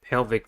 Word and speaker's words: pelvic: The next one is a pelvic fin. Pelvic has 2 syllables and the stress is at the first one.